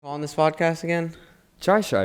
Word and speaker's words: Chaii Shyy: on this podcast again try shy right it's not your say it correctly try shy so my name is